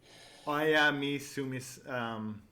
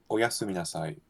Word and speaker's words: Oyasumi nasai: Flawlessly pronounced too. Surely you've heard Oyasumi Nasai before. You've watched enough anime. Oyami Sumis. Say it one more time. Oyasumi Nasai.